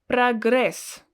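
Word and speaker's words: прогресс: the last word is progress progress again always pronounced as a because it's not stressed progress progress in english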